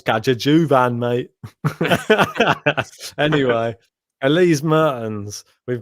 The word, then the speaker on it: Kaja Juvan: Pronouncing the J every time is probably completely wrong. Kaja Juvan sounds a bit pikey. Sounds very me, probably. It's Kaja Juvan, mate.